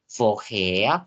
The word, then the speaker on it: woher: Ya, jadi seperti yang aku bilang tadi, huruf R kalau dalam bahasa Jerman tuh nggak terlalu yang kayak woher. Jadi bacanya woher. Jadi huruf R ini seakan-akan huruf A.